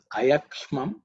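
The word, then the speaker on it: अयक्ष्मम्: But when Sandhi is split, is Ayakshmam Chame. Ayakshmam Chame. Ayakshmam Chame. So the meaning of Ayakshmam, again, in terms of pronunciation, maybe Ksha. Ksha is the cerebral Sha.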